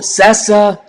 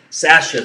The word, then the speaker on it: Sasa: So, Sasa, please let me know how I pronounce that, because I can almost guarantee Sasha. Okay, S-A-S-A. Sasha, beautiful.